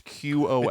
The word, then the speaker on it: Qom: I don't know how to pronounce it. It's Qom. And Qom, I think, is Qom? right. Qom. Qom. I don't want to be disrespectful. I think it's Qom.